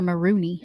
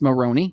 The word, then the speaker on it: Maroney: Is it Maroney or Marooney? It's Maroney. Okay. There's one O. You keep doing that, but that's not how you say her name.